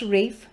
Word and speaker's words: Ralph: war by jeffrey archer ralph pronounced rafe dudley dawson became squire